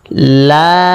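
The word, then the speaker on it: ل: দাঁতের আগা নিচের ঠোঁটে লেগে যাবে কাফ কাফ লাম জিহ্বার আগার কিনারা সামনের উপরের দাঁতের মাড়ির সাথে লাগবে চার আলিফ টান হবে শেষে দুই ঠোঁট মিলে যাবে লাম লাম মিম এই হরফটি বলতে উভয় ঠোঁট মিলিয়া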